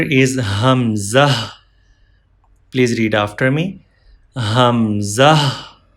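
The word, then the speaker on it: همزة: part of throat, and Hamza pronounced from lower part of throat. From here, Hamza. One more time. Hamza pronounced from throat.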